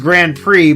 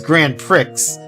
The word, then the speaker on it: Grand Prix: But like also how I I find it hilarious how it's called how like that's pronounced Grand Prix but it the spelling makes it seem like it's grand pricks.